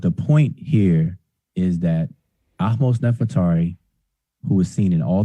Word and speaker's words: Ahmose Nefertari: Goro, you corrected me if I pronounced her name wrong. Excuse me. Ahmose Nefertari.